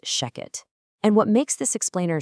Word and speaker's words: Shechet: You know, even though it's spelled s h e c h e t, it is always pronounced Sheket.